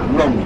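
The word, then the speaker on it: 龍: of chese means number means dragon pronounce long means dragon Chinese name dragon successful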